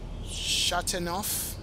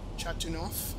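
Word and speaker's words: Châteauneuf: Not sure, but the town may have been Chateauneuf. That's how you pronounce it. Chateauneuf.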